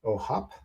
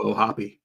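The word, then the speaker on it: O'Hoppe: I also like Logan ohop uh how do I what's the official pronunciation I think we gotta go oh happy I mean we'll have to do it it's more fun to say happy but you know um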